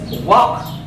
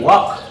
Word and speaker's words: walk: This word is walk. It's because the letter L is silent. Let L silent. I say walk.